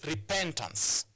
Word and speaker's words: repentance: It's repentance. But this is an example of a word that you place, that a stress mark is placed on the second syllable.